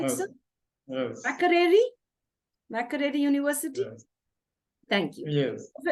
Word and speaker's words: Makerere: And he has completed this beautiful training from Makerere University. If I'm right, if I'm getting that right, sir. Am I pronouncing that right, Yes. sir? Yes. Makerere University?